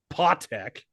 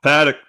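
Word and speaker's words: Patek: If I show my watch, I'm a flex the tech, paw tech. Oh, Paddock. Oh, paddock. That's how you say it. It's like a really rich watch.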